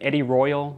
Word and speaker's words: Edirol: Now, the recorder that he uses is called an Eddie Royal, I think it's pronounced.